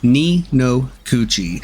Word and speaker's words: Ni no Kuni: It's pronounced Ni No Kuni, and its literal translation in Japanese is cunt.